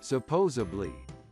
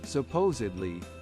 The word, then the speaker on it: supposedly: as generally mispronounced as supposably as many people find it easier to say but the correct spelling and pronunciation is supposedly with a d which means according to